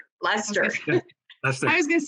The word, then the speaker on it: Leicester: One is in Manchester, and one is in, I'm sure butcher the name. It's Leicester. Leicester.